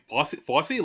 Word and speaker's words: Fossey: Fossey, like Fosse Vernon. Not spelled the same way, but pronounced the same way.